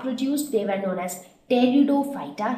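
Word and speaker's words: Pteridophyta: they were known as teredo phyta here p is silent and those with those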